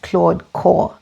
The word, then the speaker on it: Claude Corps: So first, it's pronounced Claude Corps. Apparently the P and the S are actually silent.